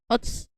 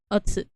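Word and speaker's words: お疲れ: The us from, or like the ots from otsu, from asukare-sama. That's not sadly pronounced much. It's just ots instead of otsu.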